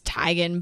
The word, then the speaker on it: Teigen: it's similar too because chrissy teigen has talked about that before where it's time they're like oh it's tigen but it's just too far gone she accepts that everybody